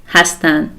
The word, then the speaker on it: hastan: the last inand and we say hastan and the pronunciation is the same as the infinitive hastan they are and you